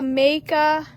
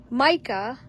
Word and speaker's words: Micah: So, we have a makea Micah, sorry, I I say it wrong.